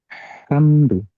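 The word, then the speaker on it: حمد: nah balik lagi Jadi alhamdu itu dibacanya ha ya hamdu Nah bedak kan ada hamdu ada hamdu hamdu dan hamdu Bedanya apa kalau ha ha kecil nih Ha tipis itu suaranya cenderung lebih bersih ya hamdu hamdu tapi kalau ha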